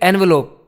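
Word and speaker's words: envelope: इसका प्रोनाउंसिएशन ध्यान रखो। जब ये एक नाउन होता है जिसका मतलब लिफाफा होता है ना, जब इसका मतलब, इसको फिर एनवेलोप बोलते हैं। लेकिन जब ये वर्ब होता है तो इसका मतलब है इन्वेलप, इसको इन्वेलप बोलना है।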